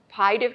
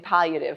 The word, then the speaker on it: palliative: Because we always say there's no why in palliative. Because many people say palliative instead of palliative. There's two L's and you pronounce both L's.